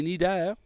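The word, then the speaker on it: cnidaires: Mais dans les nidaires, okay, écrit comme ceci, C-N-I-D-A-I-R-E-S. Okay? On ne prononce pas le C, juste nidaire.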